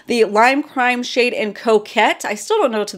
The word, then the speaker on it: coquette: Oh, I loved this lipstick, the Lime Crime shade in Coquette. I still don't know to this day if I'm saying it right. Croquette, but it's not croquet, Coquette.